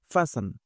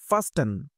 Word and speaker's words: fasten: কথা বলব সেটি হচ্ছে ফাসেন অনেকেই আমরা ফাসেন এই শব্দটাকে ফাস্ট এভাবে চিন্তা করি বা এভাবে বলি যা হোক সেটা ভুল উচ্চারণ বাট এটা উচ্চারণের ক্লাস